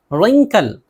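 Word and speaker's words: wrinkle: रिंकल, रिंकल शिकन।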